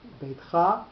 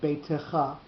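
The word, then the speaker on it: בֵּיתְךָ: So beitcha with the accent on the last syllable is the proper grammatical pronunciation, but sometimes we will get beitecha because of the word that comes before or comes afterwards.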